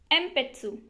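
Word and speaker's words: えんぴつ: न होती है, एंड जब भी ये पी या फिर बी के साथ होता है तो इसकी प्रोनाउंसिएशन बन जाती है लाइक एग्जाम्पल एम्पेत्सु बोले तो पेंसिल। लिखा ये जाएगा लेकिन पी के साथ ये एन है तो इसको पढ़ा एम्पेत्सु जाएगा।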